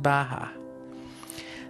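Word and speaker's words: Beatha: We call it Baha. Now that is an Irish Gaelic word that means life. And it's spelled B-E-A-T-H-A, but it's pronounced Baha.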